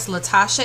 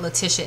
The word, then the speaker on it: Latasha: that and I shared I said her name wrong last night it was think of Latasha Edmonds not Leticia Edmond so the top Latasha